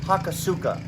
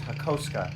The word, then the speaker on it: Hakosuka: It's not Hakosuka. Yes, it's Hakosuka in America. I get it, but the proper way to say this is Hakosuka. Hakosuka. So, because, you know, Ωραία. you gotta say it properly.